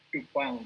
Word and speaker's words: Dupin: Kemudian kalau saya curiga nanti bacanya kalau untuk Charles Duping ini Dupang gitu ya.